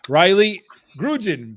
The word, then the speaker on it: Grudzien: Tonight with Shawn and I, we have special guest, Rylee Grudzien, because the Z is silent.